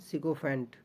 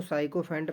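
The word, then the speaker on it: sycophant: और यहाँ पर देखिएगा सिकोफेंट। सिकोफेंट मीन्स होता है चापलूस। और लोग इसको साइकोफेंट पढ़ेंगे, तो डोंट वरी, पढ़ सकते हो, बट ध्यान रखिएगा जो इसका सही प्रोनाउंसिएशन है वो है सिकोफेंट।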